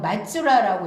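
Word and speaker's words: 松浦: 한자음으로 말로국이라고 읽는 거지 이게 일본어로는 뭐라고 읽냐면 마츠라라고 읽어요. 마츠라. 요거를 일본어로 마츠라라고 읽습니다. 그 다음에 현재 큐슈 북부인 나가사키현 북부의 요 송포시를 일본어로 마츠라라고 읽어요.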